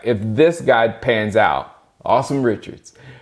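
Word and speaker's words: Asim: a s i m his name is a-s-i-m but it's pronounced awesome like awesome so awesome Richards is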